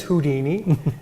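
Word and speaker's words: Whodini: And we thought this was very unique because it's spelled W-H-O-D-I-N-I, kind of like the who of an owl plus the Houdini.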